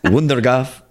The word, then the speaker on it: Wondergat: I've heard it's spelled in English, it's Wondergat, with my best Dutch accent, which according to many Dutch people is the worst Dutch accent. It's Wondergaf. It has kind of a cough sound at the end. Okay. Kind of like Van Gogh instead of Van Gogh.